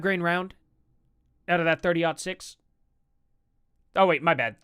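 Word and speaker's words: 30-06: round out of that 30 odd six? Oh, wait, my bad. 30 odd six. That's That's the proper way to say it, by the way.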